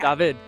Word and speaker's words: David: David.